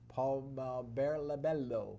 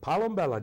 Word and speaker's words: Palombella: The bus comic is our next guest, and his name is Palombello. Palombella, Jim. You never learned to pronounce my name yet.